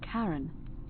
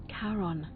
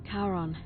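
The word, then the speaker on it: Charon: is a little off the name you heard wasn't karen it was c-h-a-r-o-n as in caron the ferryman of the dead karon who in exchange for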